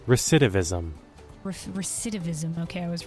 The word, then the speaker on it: recidivism: Pronunciation. Recidivism.